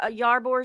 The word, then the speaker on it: Ybor: Near Ybor City. Okay. Ybor City. Yeah, Ybor. Ybor, yeah, Ybor. It depends like on who you talk to. We all pronounce it differently down here.